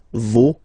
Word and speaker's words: vos: for this word, no, you don't pronounce the final S, vos, you don't pronounce it, leur.